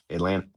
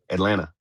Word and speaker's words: Atlanta: If you're from Atlanta, you know not to pronounce the T. Atlanta. Atlanta.